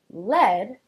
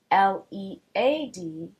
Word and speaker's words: lead: and remember is that the word lead spelt l e a d is a noun and essentially a type of metal. The pronunciation distinction being that in this case e a makes the lower case e sound. Eh. Instead of the upper case e sound.